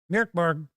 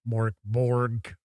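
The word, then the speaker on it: Mörk Borg: tabletop role playing game Merborg. Yes, I know. I'll say it the usual normal way. People get mad when I do my jokingly pronounced Morborg, which isn't that.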